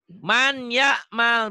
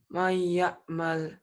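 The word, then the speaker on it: مَن يَعْمَلْ: Man ya'mal, baca. May ya'mal. Jadi may ya'mal. Kenapa jadi may ya'mal? Karena nun mati ketemu ya.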